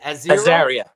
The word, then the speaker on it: Azaria: How do you pronounce it? Azaria.